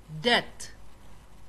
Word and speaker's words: debt: Second one بي بي death ما دهنا دبت دبت أو قرنت لكن وحلقوا نطقة لغو برنونس كرينا يا death debt debt ودين دين.